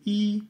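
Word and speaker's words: 一: 1, c'est i, premier ton.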